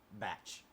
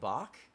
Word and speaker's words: Bach: name is Johan Sebastian batch you mean Johann Sebastian Bach uh it says batch yes okay man look listen that's not how you say his name they're like well who